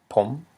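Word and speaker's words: ຜົມ: Because we have a high consonant, p, plus a live syllable, Why is it a live syllable? Yes, because it ends in a nasal sound. Therefore, it's a rising tone.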